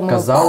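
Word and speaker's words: казав: Yes, about the letter “v” you said that instead of pronouncing it as [f] at the end, it should be pronounced as [ŭ].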